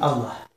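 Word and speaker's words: الله: le lit, alif, lem, lem, ha, qui dit Allah. Voilà. Ceci que, donc on voit bien que le mot lui, qui est en huwa en arabe, cache le mot Allah.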